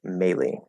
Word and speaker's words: melee: So the first word, I would more readily pronounce melee, but I know it's also pronounced melee, or yeah, melee weapons. Yeah, some people say it that way. I say melee, which is how I think most people say it.